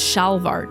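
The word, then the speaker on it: şalvar: Turkish antaloons, Turkish salvar. Oh, interesting. Turkish trousers or demier pronounced shalvar.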